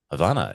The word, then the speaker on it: Havana: Havana. It's like Havana. heaven. It's like heaven. Ah, Havana. yeah, it sounds like heaven Yeah. when you say it.